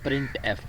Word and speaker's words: printf: प्रिंटफ function is pronounced as प्रिंटफ, यानी कि इसको जो हम बोलते हैं वो बोलते हैं प्रिंटफ फंक्शन बोलते हैं।